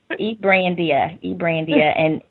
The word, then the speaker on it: Brandia: Brandia, and you pronounce it exactly how it looks.